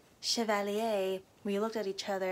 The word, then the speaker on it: Chevalier: last weekend my sister and I saw Chevalier she keeps calling it Chevalier so I kept calling it that once we watched the movie and Marie Antoinette said Chevalier we looked at each other and we're like